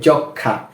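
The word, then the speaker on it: যক্ষ্মা: ম ফলা আকার জখমা বানান করার সময় আমরা কিন্তু জখমা পড়ে ফেলবো কিন্তু উচ্চারণের সময় হবে যক্ষা এখানে কেন যক্ষা হচ্ছে ম এর উচ্চারণ হচ্ছে না কারণটা হচ্ছে যে এটা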